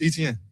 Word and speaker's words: Etienne: So, I'm like, man, it's Etienne. Like how you see it is how you say it.